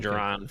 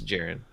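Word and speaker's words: Jarran: They call him Jaron for a long time. It's Jaron. Whatever. Like Darren, but with a J.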